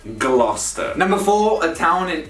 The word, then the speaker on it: Gloucester: number three gloucester again you get o u c e now pronounced us gloucester not glochester like most lorry drivers might say typical english place